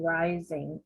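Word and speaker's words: Reising: of Life and it was written by Susan rising and her last name is spelled r e i s i n g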